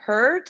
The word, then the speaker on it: hurt: Heart, like an A sound. Hurt is with it, her. Like her, like an E sound.